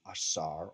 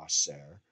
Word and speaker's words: Osiris: What are their actual names in hieroglyphs and how would you pronounce it? Asar or Aser, User, or Ast or Aset for Isis.